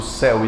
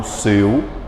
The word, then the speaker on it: céu: gente aberta por exemplo na palavra céu eu pronuncio céu e não seu e e o acento